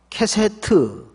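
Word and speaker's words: קשת: 케세트 발음 주의하세요. 히브리 말로 케세트라는 말이에요.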